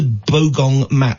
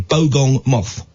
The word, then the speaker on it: bogong moth: permitting um have you ever heard of the bong Ma I say it properly bogong moth no it's the only insect they think that